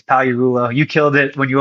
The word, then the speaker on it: Pagliarulo: So Pag on Instagram, but the G is silent. You're going to say it in a big audience if you're trying to say the whole thing, it's Pagliarulo.